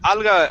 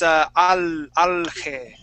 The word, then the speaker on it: alga: Alga. Oh, I thought it was pronounced. Seaweed. I thought it was pronounced alge. No, Yeah. no, it's alga.